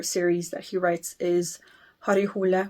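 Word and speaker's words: Harry Hole: that he writes is har hula which in English you would pronounce Harry hle har hula who is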